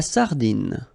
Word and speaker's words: sardine: La sardine, you don't insist on the final E, it only gives you the N pronunciation. Sardine.